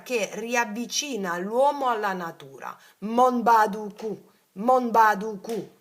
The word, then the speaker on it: Monbaduku: mentalmente quando mangi è Monbaduku. Monbaduku. Si scrive così. Mentre mangi, sapete quando dite i mantra si attivano le memorie del mantra, no? Mon con la N di Napoli, Monbaduku.